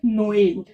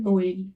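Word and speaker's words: Noël: बट अगर मैंने ई के ऊपर एक्सेंट लगा दिया, तो उसका प्रोनाउंसिएशन इसका हो जाएगा ऊ करेंगे, और इसको ए करेंगे, तो इसको करेंगे नोएल। क्या बोलते हैं इसको? ये तो बहुत जाना माना वर्ड है, आपने बहुत बहुत जगह देखा होगा, ई के ऊपर ऐसे 2 डॉट। इसका प्रोनाउंसिएशन होता है नोएल।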